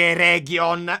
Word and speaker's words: Eregion: Andiamo verso sud, attraversiamo la regione E. Si pronuncia Eregion.